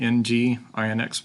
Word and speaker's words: nginx: got a link here how to install the ng INX web server so what is ng INX or nginx is the pronunciation it's an alternative to the extremely popular